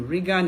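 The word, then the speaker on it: Roegan: But before I continue, Google Regan Canadian International School. Regan is spelled R-O-E-G-A-N.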